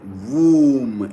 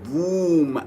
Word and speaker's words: womb: It is womb. Womb. There are many words like this in the English language. They are not pronounced according to the way they are spelled.